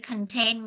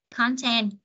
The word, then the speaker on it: content: dấu nhấn em ơi, cái chữ content mà là tính từ đó, chúng ta sẽ nhấn vần 2, content là tính từ chúng ta nhấn vần 2. Nhưng khi nó đọc là danh từ chúng ta nhấn vần 1, content nhấn vần 1.